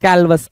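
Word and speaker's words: callous: कैलवस असभ्य या फिर कठोर। कैलवस प्यारा वर्ड है भाई। कालवस कुछ लोग पढ़ते हैं कालवस, ठीक है, कैलवस भी होगा, कालवस भी होगा, कोई दिक्कत नहीं है।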